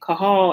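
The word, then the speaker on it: qahal: c-a-l-l okay i think it's called okay kahal in hebrew q-a-h-a-l which we get our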